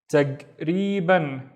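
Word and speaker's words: تقريباً: Tag or taq, both would work. Taq or tag, and then ri. So this is a long vowel. I just forgot to make it in orange. Ri ban. Taqriban. Taqriban or taqriban, which means approximately.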